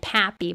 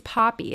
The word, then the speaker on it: Poppy: It's Poppy, not Pappy. But I've been saying Pappy, you know, and I'm like, that doesn't rhyme with Okapi, but Poppy certainly does rhyme with Okapi.